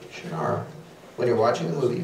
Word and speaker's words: Shannara: movie when you're holding the book you say shanar when you're watching the movie you can see